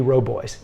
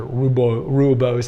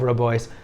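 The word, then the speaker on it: Rooibos: for dessert tea would be Robo or red tea or rubo rubos as we mispronounce it and we have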